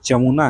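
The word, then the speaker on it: Jamuna: जो यमुना है ना दिल्ली का, वही वाला यमुना, फर्क है, यमुना नहीं है, ये जमुना है, जे से स्टार्ट होता है।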